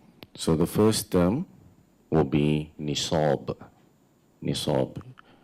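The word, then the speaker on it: نصاب: So the first term will be nisab. Nisab. We spell it in Arabic, Noon, Sad, Alif, Ba. The transliteration for that would be Nisab, Nisab.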